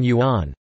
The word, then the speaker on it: 元: These are all pronounced yuan in modern standard Chinese, but were originally pronounced differently, and remain distinct in Wu Chinese.